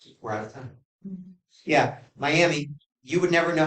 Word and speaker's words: Miami: Yeah, Miami. You would never know how to pronounce that word unless you knew how to pronounce the word.